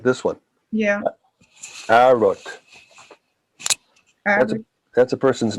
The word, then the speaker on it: Herod: But I think most names that we do say in Naskapi that begin with H, we don't even say the H. Jack. No, Herod.